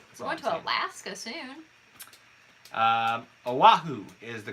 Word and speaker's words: Oahu: I guess you say it Oahu. Is that how you say it? Oahu? Yeah. Oahu. Yes, the I island. couldn't figure out what your question was. I was like, yeah, you're saying that right.